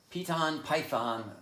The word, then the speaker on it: Piton Python: Piton Python, the python said proudly, with an accent on the O.